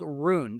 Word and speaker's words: Rune: Very important guys, Thor Chain's token is called Rune. That is spelled R U N E.